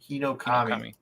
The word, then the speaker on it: Hinokami: As a developer, it's Hinokami. Hinokami. Yeah. I just can't read. Okay. Japanese, generally, you can break it down into like sounds, into syllables. So it'll be like he, no, ka, mi.